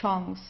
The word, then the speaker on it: Chance: In this case, it's a French word, so we pronounce it the French way, die Chance.